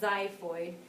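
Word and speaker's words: xiphoid: zyo it starts with an X but it's pronounced zyo Zid processes this tip here if you take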